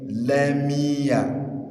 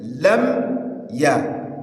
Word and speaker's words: لم يكن: Some brothers do change that mimun that is carrying sukun to mimun bil kisra mi, thereby saying lamiya. Aywa, lamiya. This is wrong. The correct pronunciation is lam ya.